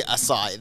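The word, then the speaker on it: açaí: pronunciation have a listen it's basically acai the the pronunciation says a-s-a-i is how you should I saw it okay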